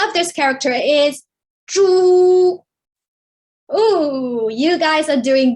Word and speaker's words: 猪: The pronunciation of this character is 猪.